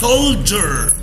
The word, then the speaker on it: soldier: بص المقطع الأخير دي IER بيتنطق إزاي. Soldier.